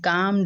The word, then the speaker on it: calm: Gentle thought मतलब अच्छे विचार, एंड काम डिजायर और शांत इच्छाएं, CALM है, L इज साइलेंट।